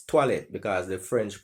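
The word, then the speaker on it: toilette: the etymology of the word toilet it's not pronounced toilet it's toilet because the french pronounce oh i as a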